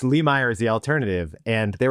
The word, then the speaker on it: Lemire: I didn't want to say the way people usually mispronounce it, which is Lee Meyer. I wanted to get you through it. So, it's Lee Meer is the alternative.